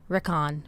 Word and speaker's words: Rickon: How do you pronounce Rickon again? Rickon.